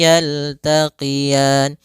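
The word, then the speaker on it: يَلْتَقِيَانِ: Kemudian pelafal ra ini di sini ada bacaan lin, yaitu adanya fathah bertemu dengan ya sukun, lembut dalam pelafalannya. Yaltaqiyan sama sebagaimana kita membaca tukadziban, yaitu ada bacaan mad arid disukun, boleh dipanjangkan 2 harokat, boleh 4 harokat, dan boleh pula 6 harokat.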